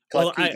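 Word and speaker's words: Klefki: Clefki? Oh, Clefki?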